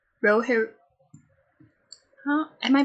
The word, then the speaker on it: Rohirrim: No, it's War of Rohirrim. Rohirrim. Huh? Am I pronouncing that wrong?